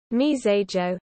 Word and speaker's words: Mizérieux: myterius french pronunciation mesa joe is a commune in